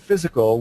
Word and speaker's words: physical: In the word physical, we are taught to say it like the letter I in lift versus how it would sound in high.